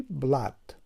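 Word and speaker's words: blood: اینجا کلمه رو میبینیم که نوشته شده BL دوتا او و دی که تلفظش میشود چی؟ بلد. اینجا هم همون آوازی است که همین دو حرف او آواز چی را؟ ا را افاده کرده است و این هم تلفظ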